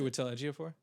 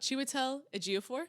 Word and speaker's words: Chiwetel Ejiofor: And then, oh God, I don't know how to pronounce his name. What's it? Chiwetel Ejiofor? One more time slowly. Chiwetel Ejiofor? I've only read the name. I've never said it out loud. Chiwetel Ejiofor.